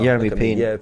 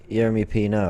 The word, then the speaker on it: Yeremy Pino: Yeremy Pina. Yeremy Pina. Pino? Yeremy Pino, I believe.